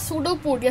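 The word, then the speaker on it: pseudopodia: और with no definite shape it हैज़ सूडोपोडिया. सूडोपोडिया क्या होता है? इसका स्पेलिंग है PODIA, हाँ, और इसमें P साइलेंट होता है एंड सूडोपोडिया इट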